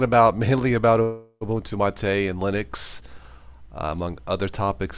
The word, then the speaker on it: MATE: Marte it's spelled mate m8te but it is pronounced Ma Tei I'll boot to my tour guide I do